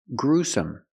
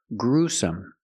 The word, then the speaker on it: gruesome: cup su su together gruesome put the stress on the first syllable gruesome it was a gruesome